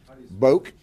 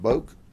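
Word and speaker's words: Boek: That's Polk County pronunciation. All right. So I'm gonna go with that is subject to modification by someone who may have a different interpretation being the family, but we call him Boak.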